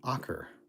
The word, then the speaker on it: ocker: Ocker?